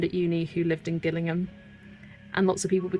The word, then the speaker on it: Gillingham: I like um there is two places spelled the exact same, Gillingham and Gillingham, but one's with a hard G, one's with a soft G.